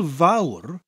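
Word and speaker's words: fawr: of maurer now Hoyle vowel the vowel bit is pronounced like the English word vow but with that little bit of a rolling R at the end of it that motorbike sound that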